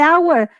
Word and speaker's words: hour: Y en el caso de hour, la H no la pronuncio, básicamente no existe, entonces viene una vocal en hour.